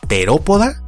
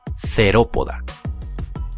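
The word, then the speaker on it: Theropoda: No, acá es una T. Por ejemplo, terópoda y no cerópoda.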